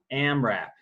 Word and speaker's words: AMRAP: All right, next term, AMRAP. That's how it's pronounced. It's an acronym. Abbreviations for as many reps as possible.